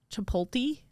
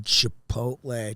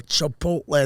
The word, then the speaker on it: Chipotle: People just This was not It's like Chip uh Chipot Chipoti. People always say that.